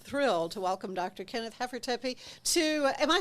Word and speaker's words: Hafertepe: Hafertepe, but we don't say the E at the end. That's right. Germans in Hafertepe. Texas went English, and so silent E making Okay. So, Hafertepe. but the Germans would. Yeah, it's probably Hafertepe back in Germany.